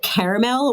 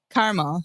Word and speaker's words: caramel: Do you say caramel or caramel? Caramel. You say caramel? Yeah. Why add an extra syllable?